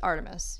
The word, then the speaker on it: ARTMS: It says Stan Artemis, which is Artemis. You guessed it right before. So it's spelled ARTMS, and that's because 4 members of Luna have signed.